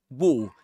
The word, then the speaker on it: wore: Yeah, and this E letter is silent there. So we don't pronounce it. It's wore a green parka.